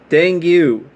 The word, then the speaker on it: dengue: the hopes they would spread yellow fever and dengue fever thank you i think i might be pronouncing that wrong i haven't heard of that